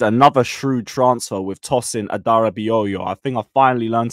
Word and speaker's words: Adarabioyo: We might have made another shrewd transfer with Tossin Adarabioyo. I think I finally learned how to pronounce his name.